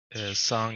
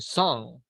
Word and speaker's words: sung: The schwa sound is I have never sung because I'm saying song.